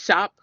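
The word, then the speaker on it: shoppe: just really cute it's shop shop is s-h-o-p-p-e it's spelled a French way and gal is g-a-l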